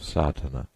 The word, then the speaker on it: Sadhana: A word may be added about the pronouncing of Sardana. The accent falls decisively on the first A which has the broad sound of the letter.